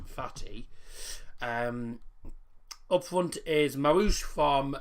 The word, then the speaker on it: Fathi: That's his actual name, Fathi, which is pronounced Fatih.